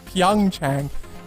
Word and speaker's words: PyeongChang: I was saying PyeongChang earlier on, like some weirdo.